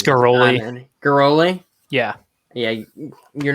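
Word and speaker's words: Ghiroli: Yeah, you're not going to get good pronunciations from It's Garoli.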